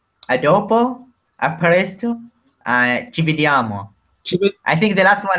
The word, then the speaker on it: vediamo: come this word is, vediamo is a dolce, molto suave, no? Vediamo. It's like it sounds nice, he says. It sounds very nice. Vediamo, no? Very no hard, no? It's very... It's not vediamo. Like German. Yes, it's very... No? Vediamo, come ti amo, no? It's the same.